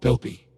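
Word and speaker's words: Belbe: "You are called Belby. The name had 2 syllables. Bell, B.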